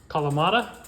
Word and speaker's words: Kalamata: Kalamata?